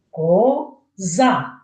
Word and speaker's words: коза: скільки складів Так звісно коза А скажіть який склад в цьому слові є наголошення на якій я більше голосніше вимовляю ко за більше наголосом так правильно на другий склад і ось ви бачите